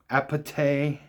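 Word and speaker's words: APT.: Mars and Ros song aete I guess is how you're supposed to say it because that's how they say it in the song die with a smile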